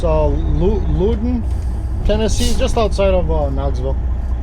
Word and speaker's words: Loudoun: Got a load today going from Toledo to I believe it's pronounced Loudoun, Tennessee, just outside of Knoxville.